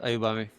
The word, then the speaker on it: Ayobami: Aubamey thank you thank you for having me here say so am I pronouncing your name correctly?